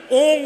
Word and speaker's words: ওম: আরতি বাড়িতে করবেন প্রদীপ দেখাবেন তখন কিন্তু ওং যে লেখা হয় না ওম এভাবে কিন্তু আরতির নিয়ম।